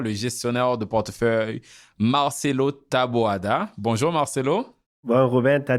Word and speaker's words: Taboada: Pour l'épisode d'aujourd'hui, je suis accompagné par mon collègue et co-animateur, le gestionnaire de portefeuille Marcelo Taboada. Bonjour Marcelo. Bon, Ruben, t'as dit bien mon nom. Ah oui, je le prononce bien?